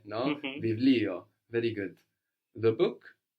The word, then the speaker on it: βιβλίο: Βιβλίο. Very good. Βιβλίο. Very good. It's written with the vita that looks like a P, but we pronounce a V there, no? Βιβλίο.